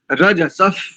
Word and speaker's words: रजसः: तदश विना कृतम वाम वृषभो दिवो रजसफ, रजसह ऐसा भी कर सकते हैं। और संहिता की दृष्टि से यहाँ पर उपध्मानी है, विसर्ग को उपध्मानी आदेश हो जाएगा। रजसफ, पृथी, पृथी, व्याह, पृथी व्याह ऐसा।